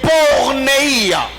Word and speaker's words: porneia: Et deuxième mot, c'est porneia. Porneia, porneia, porneia qui s'écrit comme P-O-R-N-E-I-A.